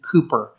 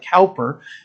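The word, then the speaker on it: Cowper: another english man named william cooper it's spelled c-o-w-p-e-r this looks like calper and he's written about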